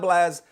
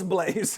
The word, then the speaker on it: Blaze: I mispronounced the name it's not blaz it's Blaze his name is Blaze 11